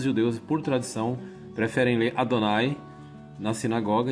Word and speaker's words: Adonai: Adonai se escreve aqui do jeito que está aqui, ó. Adonai. É um som longo, Adonai.